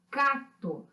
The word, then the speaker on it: cacto: Por exemplo, cacto. Então, nós temos aqui o C e o T, mas o C, ele tem um som mudo, nós dizemos que é mudo, né?